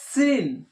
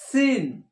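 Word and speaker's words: سين: হবে, র যা, সিন, জিহ্বাটা নিচে দাঁতে লাগিয়ে সিসকি মেরে হবে সিন, সিন, র যা সিন, এটাও 3 আলিফ টান হবে, সিন।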